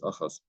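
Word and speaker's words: אחז: I'm sorry, Achaz, I pronounce this Achaz.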